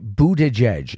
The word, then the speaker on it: Buttigieg: Buttigieg is 3 syllables and hard to remember and hard to spell.